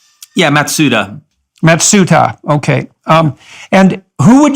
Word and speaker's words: Matsuda: so we have Crenshaw matsudo and Lawrence in mitsuto have I got that pronunciation right yeah matsuda matsuta okay and who would you say their